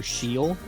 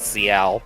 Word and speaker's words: Ciel: I mean, I just read it CL because CIEL. Yeah, plus it's a Spanish name. It's pronounced CL.